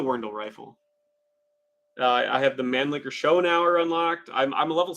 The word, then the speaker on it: Mannlicher: The Mannlicher, it's actually pronounced Mannlicher, the Mannlicher, but yeah.